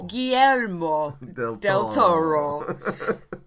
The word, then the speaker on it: Guillermo del Toro: Guillermo del Toro.